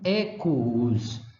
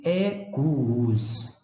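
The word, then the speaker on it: equus: e aí sim oo deve ser pronunciado como in ecos Eu pronuncio os dois os ecos cavalo ou num quadro nunca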